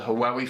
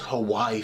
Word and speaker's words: Huawei: always loved about the haawi phones I think they're actually called Hawaii phones but I always pronounce them haawi I enjoy haawi it